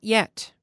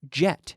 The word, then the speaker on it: yet: Not jet. No. Yet. Yeah. Like the word yellow.